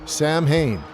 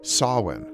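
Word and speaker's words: Samhain: There he finds the word Sam Hayne written in blood on the chalkboard. He also mispronounces it as it should be sawin.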